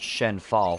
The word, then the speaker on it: Shenhua: It's pronounced Shenfal for real, because Mulan's full name was Hua Mulan, which is pronounced Fa Mulan.